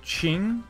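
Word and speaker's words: Qing: Like, apparently, like, Q-I-N-G, so, like, it's pronounced Ching, kind of-ish.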